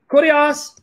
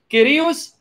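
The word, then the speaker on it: Κύριος: Okay, guys, if you click on the link, you're going to see Kurios, Hais, Estin. That's the Erasmian way. Steve, who speaks Greek, liked it when I pronounced it the Greek way. Kyrios, Is Estin.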